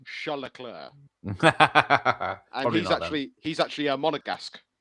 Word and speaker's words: Leclerc: And you got Charles Leclerc and George Russell on the podium with him there.